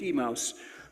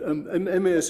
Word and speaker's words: Emmaus: Emmaus, that's right. It's a difficult word to say, isn't it? I once heard someone read that lesson and call it Emmaus, but Emmaus is the usual way to pronounce it.